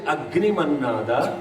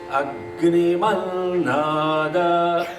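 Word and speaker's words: अग्निमन्नाद: So it's actually Agni Mannada because it is Sandhi. I'm not saying Agni, but you say Agni Mannada.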